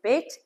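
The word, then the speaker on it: בֵּית: bait is one of the Hebrew um letters that if it has a dot in it, it's pronounced one way and if it doesn't, it's pronounced another way.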